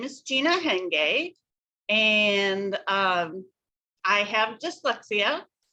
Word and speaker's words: Hayunga: guest with me today her name is gina hengay it doesn't sound like it's looking here um it's pronounced differently than it looks which is the